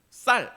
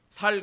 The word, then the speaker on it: 쌀: 쌍시옷이 안 되죠. 쌀 이게 안 돼요. 깜짝 놀래네. 저는 되니까 연습 많이 했어요. 쌀. 근데 이게 무의식 중에 나오면 어떻게 되는지 압니까? 살 그래요. 여보 살러 가자. 이렇게 얘기해요. 쌀이라는 발음이 안 됩니다.